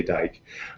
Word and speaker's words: Dyck: to look at is dr dick or dyck is how it's spelled you say dyke um but he's out